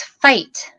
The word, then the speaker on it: Feicht: it's spelled funny and it's fight like Fight Club Fight Club and um